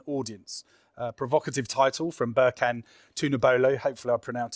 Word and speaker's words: Berkan: revealing the hidden audience uh provocative title from birken to nabolo hopefully our pronoun is pronounced that right birken um who's the media director for gsk um